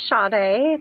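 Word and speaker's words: Sade: It's uh her name is is um pronounced shade, but it's s a d e.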